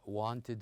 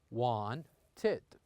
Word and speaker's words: wanted: as of these verbs, some of them has two syllables like wanted here. We pronounce it like this, want-ed. Want-ed.